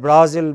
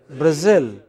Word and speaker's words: Brazil: capital of Spain okay so in English it is pronounced not as Madrid what else Madrid not at Berlin but Berlin not at Brazil but Brazil very erratic you know